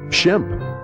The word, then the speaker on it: Shemp: for Halloween isn't it Sam's european-born mother had trouble pronouncing his name when she said the name it came out sounding something like Shemp Shelby is definitely an